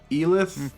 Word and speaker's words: Elith: Elith, or did you want a different pronunciation? You said it different than we have. It's Elith. Okay, just making sure.